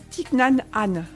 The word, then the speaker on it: Thích Nhất Hạnh: l'écorché pas ce que c'est c'est en vietnamien thich nhat hanh ça s'écrit thich nhat hanh pour ceux qui le